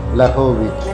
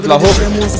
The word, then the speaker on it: Vlahovic: Dušan Vlahovic.